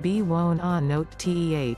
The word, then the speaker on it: buonanotte: Think how much more sophisticated and worldly you'll sound if instead you say it in French, bonne nuit, pronounced bonne nwee, Italian, buonanotte, b-won-on-note-teh, or Chinese, wanan, wa-an.